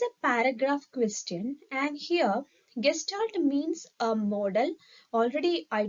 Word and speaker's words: gestalt: It is pronounced as gestalt.